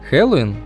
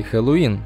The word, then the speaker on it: Хэллоуин: Если вас давно мучает вопрос о том, куда же в этом слове ставить ударение, то вот вам два самых распространенных варианта – Хэллоуин и Хэллоуин. Так как слово заимствованное, то однозначного мнения на этот счет нет, поэтому произносите, как вам больше нравится.